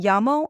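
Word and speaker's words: llamo: So I would say Sophia that double L in yamo makes a Y sound like in yellow.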